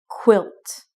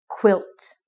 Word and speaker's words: quilt: next word is quilt quilt when you say the qu sound it is unvoiced so it does not vibrate so it's quilt a quilt a blanket